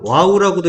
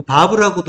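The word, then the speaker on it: ו: 거예요 그리고 와우라는 글자가 와우라고도 읽고 바보라고도 읽는데 이거는 이제 와우라고 읽는 거는 영어식 표현이에요 영어식으로 할 때 와우라고 하고 바보는 독일식이에요 신학이 네 독일 쪽이 강하죠 그래서 바보라고 읽는 경우가 많아요 독일은 W 발음을 V 소리로 내잖아요 비읍 소리 그래서 이제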